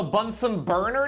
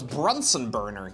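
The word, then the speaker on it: Bunsen burner: Today is also Bunson Burner day. I thought it was Brunson Burner.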